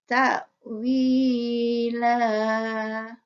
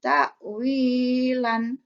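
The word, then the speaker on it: تأويلا: Jadi bacanya ta'wila, bukan ta'wilan atau takwil atau takwilah. Jadi panjang ya. Takwila itu yang betul.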